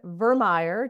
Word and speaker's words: Vermeire: But we have a lovely guest who is a dear friend of mine, Vermeire. Did I say it right? You did. Okay. Like Oscar Mayer, he said.